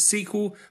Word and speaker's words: SQL: for structured query language some computer scientists pronounce it sequel but I'm not as cool as them and I'm going to just stick with SQL it's used to manipulate